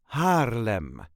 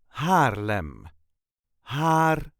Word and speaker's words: Haarlem: us duchies say Harlem Harem so there is a very light emphasis on the first syllable harm harm all the letters will